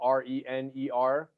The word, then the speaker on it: Rener: Rener is spelled R-E-N-E-R. So it's pronounced with an H, Rener Gracie.